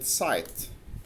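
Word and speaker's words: site: زي كلمة مثلا سيت، سيت داون مثلا، بيتنطق سيت داون مش بيتنطق اي مع ان هو اسمه اي، لكن لما يجي في اي في اخر الكلمة هيتنطق باسمه، هيبقى سايت مش سيت.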